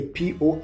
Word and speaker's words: Porteus: And a Porteous a Porteus. Porteus.